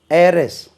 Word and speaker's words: heiress: உச்சரிப்பு எப்படி? காற்று போல உச்சரிக்கணும். வாரிசு. ஏரஸ், HEIRESS. ஆண் வாரிசு இருந்தால் ஏர், ஏரஸ். ஹெச் உச்சரிக்க விடாது, சைலண்ட் ஆகும்.